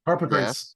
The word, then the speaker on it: Harpocrates: Harpocrates.